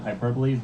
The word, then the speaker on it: hyperbole: reason I know that word is hyperbole ensive hyperboles because the first time I encountered it was